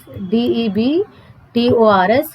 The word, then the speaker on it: debtors: B silent है यहाँ पे, DEBTORS, DEBTORS।